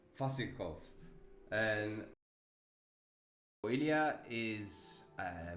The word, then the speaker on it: Vasilkov: Vasilkov. Vasilkov.